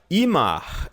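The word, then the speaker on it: immer: cada vez mais tá Imar em alemão se pronuncia como se fosse um imã de geladeira em Mar significa sempre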